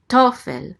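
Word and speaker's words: תֹּפֶל: Tofel. The accent mark is right here under the tav. So it's tofel. The accent is on the first syllable.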